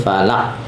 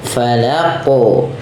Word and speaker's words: falaq: Nah, karena huruf qaf ini termasuk huruf qalqalah maka harus memantul, bukan hanya sekedar bi rabbil falaq. Tapi dia harus ada pantulannya. Falaqu ya, falaqu ya, sesuai dengan makhrajnya lagi.